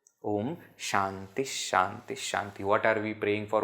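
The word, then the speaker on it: ॐ शान्तिः शान्तिः शान्तिः: again based on sh this is at the end therefore pronounced as H Om Shanti Shanti Shanti what are we praying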